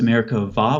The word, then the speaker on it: Merkabah: It's spelled with a B-A-H at the end most of the time, but the B in Hebrew doesn't have something called a dagesh. So it's pronounced Merkavah with a V sound.